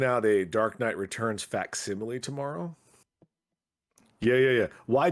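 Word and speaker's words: facsimile: Um, so they're bringing out a Dark Knight Returns faximile tomorrow. Yeah. Yeah. Yeah. Why do you think it's coming out tomorrow? Is that how you say that? Faximile. Yes. It's not faximileo.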